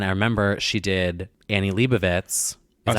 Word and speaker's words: Leibovitz: And I remember she did Annie Leibovitz. Is that how you say it? Yep. Leibovitz.